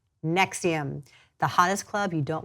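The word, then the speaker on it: NXIVM: as matt just asked how you pronounce their name is spelled NX IVM nexium the hottest club you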